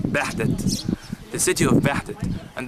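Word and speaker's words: Behdet: Edfu, phonetically at the ancient time named Bahdet, B-E-H-D-E-T, Bahdet, the city of Bahdet.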